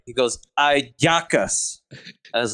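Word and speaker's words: hallacas: uh it's amazing it's really good but it's pronounced it's a aaka h a c k a l l a s ayakas just like it's in Venezuela a jackass yeah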